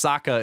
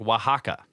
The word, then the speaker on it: Oaxaca: okay The Watcher says The Watcher says o ox Sokka is pronounced like Oaxaca so yeah I do